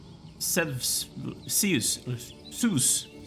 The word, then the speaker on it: Zeus: Zeus is the way you pronounce it. I went to the Swedish pronunciation for a second there.